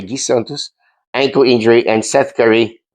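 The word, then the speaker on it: Gui Santos: Guy Santos, that's how it's pronounced, by the way, Guy Santos, ankle injury, and Seth Curry is going to be out due to a back injury.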